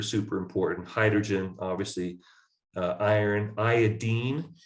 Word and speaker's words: iodine: it iodine even though most people call it iodine when you go to the store or something a tincture of iodine or whatever it's actually pronounced iodine so these are some of the ones we'll